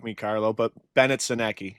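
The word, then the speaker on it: Sennecke: Now, if I say his name wrong, correct me, Carlo, but Bennett Senecki. Is it Senecki or Sinek? Bennett Seneca. Oh, thank you, sir.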